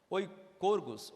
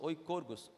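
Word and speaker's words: οἰκουργός: grego também ela significa oi corgos oi corgos o i k o u r g o s beleza barbada de pronunciar que que significa isso além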